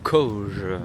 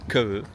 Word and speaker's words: Køge: Ferrari pourquoi pas bon je viens d'arriver à C c'est comme ça qu'on le prononce en français mais ici il le prononce que tout simplement et on va se